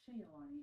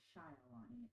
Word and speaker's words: Shialani: It is not Shaylani, it is Shialani, and I'm super sorry.